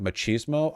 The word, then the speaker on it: machismo: that what what what machismo is pronounced with a CH machismo ah but machismo sounds